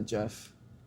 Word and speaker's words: GIF: And we're going to be triggering recording a GIF. Some people pronounce it a Jeff.